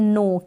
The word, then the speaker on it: know: Form, नो, न्यू, न्यू, और के यहाँ पर साइलेंट है तो प्रोनाउंसिएशन का आप ध्यान रखें।